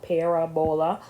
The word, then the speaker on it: parabola: I like to say parabola because that's how it's spelled, parabola, but it's a parabola.